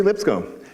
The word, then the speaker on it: Lipscombe: this really neat is my name doesn't have a silent s it's actually Lipscomb just thought I'd throw